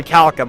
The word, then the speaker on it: orichalcum: Or Orichalcum, I guess would be the proper way to say it.